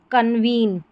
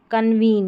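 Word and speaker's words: convene: यह है कन्वीन। कन्वीन यहां पर देखिए इ एन ई ये लास्ट वाला पैटर्न ई डी ई ई एक अक्षर छोड़ा डी।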